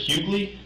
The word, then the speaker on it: Hugley: Is it Hugley? Hi. The G sound. Okay. Okay. Hi. Hi. Not D.